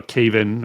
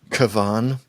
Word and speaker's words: Cavan: how how despicable uh Caven or Caven, whatever his name is, the the lead bad dude. Actually, it's Cavan. Sorry. Sorry. That's that's just how his parents pronounce it.